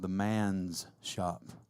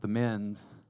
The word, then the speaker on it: The Man's Shop: at a place called the man's shop not the men's the man's shop you have to kind of take a pause there to say it correctly and uh anyway we